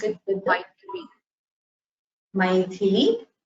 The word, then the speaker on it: Maithili: Both should have Mahaprana. You should pronounce it with the Maithili, Kamadhenu.